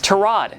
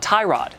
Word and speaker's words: Tyrod: Taylor for example yeah it's trod not Tyrod according to his mom of course then now